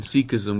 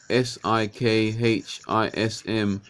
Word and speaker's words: Sikhism: this this religion is called seek seek seek seek ISM show one Sikhism which is spelled s i KH i SM Sikhism talking about having